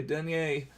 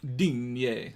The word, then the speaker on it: Digne: Like sometimes you hear it like Dean, basically. Sometimes you hear it like Digne, and I don't know.